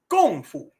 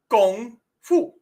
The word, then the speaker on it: gung fu: Yes, kung fu is an anglicization of kung fu. Gung fu.